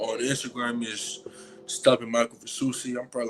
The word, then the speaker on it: Fasusi: five-star offensive lineman, Michael, and you said it's Fasusi? That's how it's pronounced?